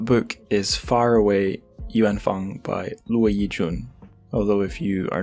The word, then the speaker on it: Luo Yijun: Although if you are not familiar with how to pronounce Taiwanese Chinese names from romanization, you might be seeing it as Luo Yijun, but be aware it's not, it's Luo Yijun.